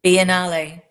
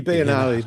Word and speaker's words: Biennale: Biennale. Thank you, Biennale.